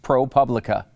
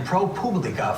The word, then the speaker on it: ProPublica: always called it propublica the problem though is the latin publica publica that's how i